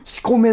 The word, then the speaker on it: 醜女: しこめの肖像って醜い女と書いてしこめと読むからね、あれ。